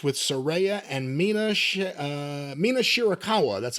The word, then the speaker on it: Mina Shirakawa: the finish of May versus Cameron with the postmatch with Sera and Mina uh Mina shirakawa that's how you say it kiss kissy girl